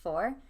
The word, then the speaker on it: forte: the literature person means it's actually just pronounced four. Forte is a part of a sword, but four means something that's in your element. Anyway. If I had a but forte if you say right four, now. if you say four, people are thinking you're saying it wrong.